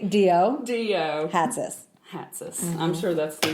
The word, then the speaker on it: Hatzis: So it's Hatzis. Oh, if you want to say it with a Greek accent. Oh, wait, do that again. Close. Hatzis. Yeah. Or you could also say Dio. Hatzis.